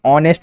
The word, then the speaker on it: honest: सबसे पहली चीज तो HONEST को क्या पढ़ते हैं, ऑनेस्ट पढ़ते हैं, ऑनेस्ट, ऑनेस्ट। ठीक है, तो यहाँ पर ओ से लिया है मैंने, मतलब क्या साइलेंट होगा, H साइलेंट होगा, इसीलिए आपका आंसर हो जाएगा ऑप्शन नंबर ए।